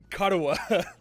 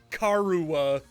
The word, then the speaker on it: Karawa: Karawa. There we go. I can never say her name right the first time. Because my English brain wants to say Karuwa.